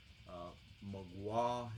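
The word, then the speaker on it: Mgła: Magua is the way it's pronounced. That means the fog in Polish, I guess.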